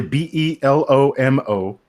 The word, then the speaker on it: Belomo: It's actually B-E-L-O-M-O. B-E-L-O-M-O, Belomo. But because it's a Bulgarian company, it's written in Cyrillic.